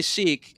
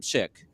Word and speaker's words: Sikh: The religion is Sikh. That's how you say it. Yeah. No, some people say Sikh, and it it's makes wrong. it. Yeah. It's wrong, but it also makes it